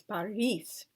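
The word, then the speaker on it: Boris: are always long and O is pronounced like a long a when unstressed so for example Yvonne the name on i-v-a-n is Yvonne and Paris b-o-r-i-s is Paris G is always hard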